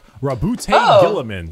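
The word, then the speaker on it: Roboute Guilliman: Rabute Gilliman. That's how it's said.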